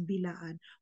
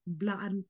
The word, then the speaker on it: Blaan: after the B and they are pronouncing it as Bilaan. Wala naman pong letra na tinanggal after the B para po lagyanin yun ng apostrophe. So there is no need for that. Blaan po talaga ang tawag namin sa aming sarili.